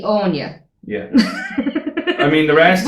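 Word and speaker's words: Áine: Like we've got AINE. So they would have thought that was Annie. Yeah. Yeah. And that's And understandable. There's a correct, fucking yeah. musical called Annie Yeah. and it's spelled that way. Yeah. So, But it's Like- actually Anya.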